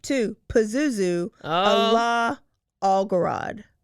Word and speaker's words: Pazuzu: you how do you say that name again Pazuzu Pazuzu Pazuzu um and he was telling people